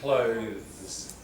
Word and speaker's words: clothes: Clothes. Clothes. And you got to keep it one syllable. Both are just one syllable, aren't they? Not clothes or months. Clothes.